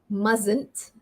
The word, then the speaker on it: mustn't: and check out the spelling m-u-s-t-n apostrophe t mustn't so this is a difficult one mustn't you